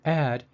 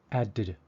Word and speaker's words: add: First, in English, the consonant is only pronounced once. So, looking at the word add, it is pronounced add, not added.